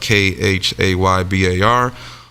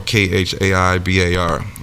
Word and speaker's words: Khaybar: Sometimes it's pronounced Khaybar or Khaibar.